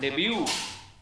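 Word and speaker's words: debut: Novel, DBUT, বোঝা গেছে, DBUT লিখবো আমরা, কিন্তু প্রোনাউন্সিয়েশন হবে ডেবিউ, ডেবিউ টি হবে না, এগুলো সব ফ্রেঞ্চ থেকে এসেছে, ফ্রেঞ্চ, ফ্রেঞ্চ, ফ্রেঞ্চ হচ্ছে ফ্রেঞ্চ শব্দ হচ্ছে যেমন টিটা উচ্চারণ নেয় না, র্যাপো, ডেবিউ, DBUT, direct influence, influence of French language.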